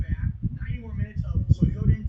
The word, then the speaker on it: Suikoden: It's Suikoden. That's how you say it. Suikoden. Just like that.